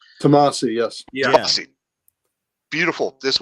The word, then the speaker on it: Tomasi: If I pronounce that right? Tomasi, yes.